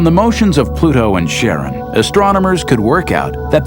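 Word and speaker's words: Charon: Christy suggested the name Karen after the Ferman of Pluto's underworld in Greek mythology but preferred to pronounce it Sharon more like his wife's name Charlene from the Motions of Pluto and Sharon astronomers could work out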